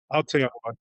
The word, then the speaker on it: Aotearoa: I wanted to start well by asking you that for many people outside uh how do I pronounce this, Aoteora? Auteora, that's right.